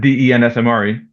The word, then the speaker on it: Densmore: Yeah, Densmore. Like Okay. the All drummer for right. the Doors, but no H in the name.